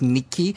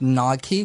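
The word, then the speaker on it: Νίκη: I mean, the Greek pronunciation is Nike. Uh-huh. You pronounce it Nike, which means victory.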